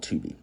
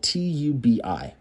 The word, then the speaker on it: Tubi: I'm sure many of you know by now that there's a free streaming service called Tubi.